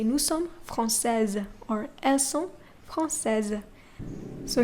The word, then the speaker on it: française: You pronounce the S as Z. Z. Okay? Française, not française.